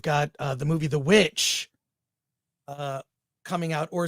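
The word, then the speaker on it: VVitch: uh the movie The Witch uh coming out or some people call it the vich so the vavich why yeah because it is spelled with two v's which is the old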